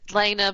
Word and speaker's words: Lena: Is it Lana or Lena? Lena, but I'll answer to anything.